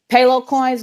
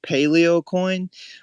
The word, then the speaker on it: Paleo Coin: and some wallet type questions as well but payload coins go ahead bro take it away hey thanks too too cold i appreciate it uh i just want to say um it's pronounced paleocoin but yeah it's totally okay um but i